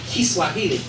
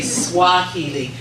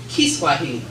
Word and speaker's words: Kiswahili: pronounce very well is Kiswahili. So many other people say Swahili, but that's not what it is. It's Kiswahili. But what I'm going to